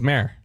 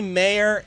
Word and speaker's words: mayor: it's not mayor it's mayor so you're telling me mayor is one syllable mhm okay you're wrong